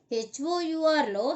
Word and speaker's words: hour: HOURలో హెచ్ is silent కాబట్టి అవర్.